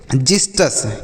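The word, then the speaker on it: Xystus: एस टी यू एस इसे हम पढ़ेंगे जिस्ट अस क्या पढ़ेंगे बच्चों जिस्ट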